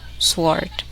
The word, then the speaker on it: sword: The letter W is silent in the following words. Listen and repeat each word after the speaker. Who, home, house, hall, ran, right, wrong, sword, to, toward, knowledge.